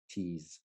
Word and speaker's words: tease: what what is tease tease t e a s e exactly brilliant and like this guy here is silent okay we don't see us